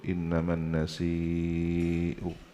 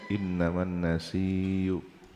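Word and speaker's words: نسيء: sampai ke Rabiul Aal lafaz annasi ini bacaannya qiraatul jumhur innaman nasiu wajib ya innaman nasiu ziadatun fil kufr ada sebagian yang bacanya innaman nasiyu ada yang dibaca tasdid innaman nasiyu ada yang syad diganti wau innaman nasu bacaan syad ya alhasil di sini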